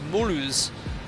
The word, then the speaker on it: Mulhouse: Oh, sorry, Mark, it's pronounced Mulhouse.